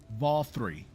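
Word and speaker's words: Vauthry: V3. V3. Okay. Like just disregard those the last the second half and just think of the letter think of the number three.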